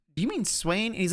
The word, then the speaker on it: Swain: And he would call Swain swine. And he was adamant that it was called swine. I'd be like, do you mean Swain?